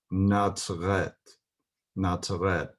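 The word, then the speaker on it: נצרת: But in modern Hebrew, Nazareth is pronounced Nazaret, Nazaret, with a T sound.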